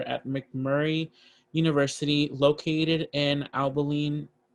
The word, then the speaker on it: Abilene: she is currently a financial aid loan coordinator at mcmurray university located in abilene am i saying that right abilene yes abilene abilene i'm so sorry texas